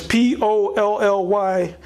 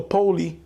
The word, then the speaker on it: Polly: jew the poly as p-o-l-l-y he is either pronounced polly or poli i would say polly owned by james d